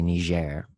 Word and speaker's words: Niger: And if you do it with the country, since it's a Francophone country, it's usually Niger.